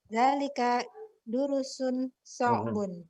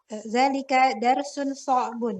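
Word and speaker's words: ذلك درس صعب: Zalika durusun so'bun. Salah bacanya. Masih salah, ulang. Zalika darsun so'bun.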